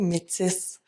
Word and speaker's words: métis: Mais en tant que francophone, puis même les anglophones, ils prononcent le S. On dit métis avec le S.